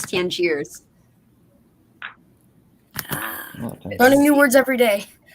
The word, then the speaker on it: Tangiers: And it's the way you pronounce it is Tangiers.